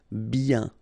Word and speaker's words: bien: Okay, so remember, when you get this combination of I-E-N, you get the sound yen, yen, okay, and then B. Bien.